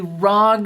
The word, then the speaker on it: ROG: raw exception and and that's right i said rog okay it's the rog strix and in my unboxing video many comments were super upset that i called it the rog strix well guys it says rog it it